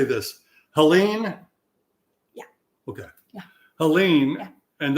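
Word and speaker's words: Helene: you you told me how to say this Helen yeah okay yeah Helen and that's the one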